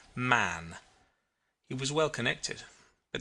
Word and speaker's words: Mahon: He had a Roman nose, a snow white long beard, and his name was Mahon, but he insisted that it should be pronounced man.